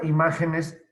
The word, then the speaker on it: imágenes: terminen punto final la palabra imágenes para el uso de la tilde es otra no nos importa si es el plural del otro la palabra imagen es irrebatible porque sencillamente es esdrújula lleva el acento en la antepenúltima y lo mismo pasa